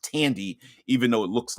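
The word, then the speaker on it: Thandie: um Tandy Newton I believe her name is pronounced Tandy even though it looks like it's fandy uh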